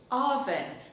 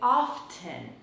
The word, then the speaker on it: often: little note on this I say often but some Americans say often now this is a regional difference both are correct so it's your choice